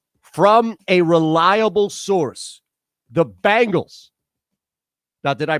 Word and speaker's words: Bengals: From a reliable source, the Bengals. Now, did I pronounce that correctly, Ron Culver? The Bengals.